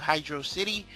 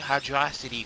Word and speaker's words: Hydrocity: going to hydrocity and some people pronounce the hydra city for summary I'll never pronounce the hydro city I don't even make sense I called it hydro city so that's what it's gonna be hydro city and I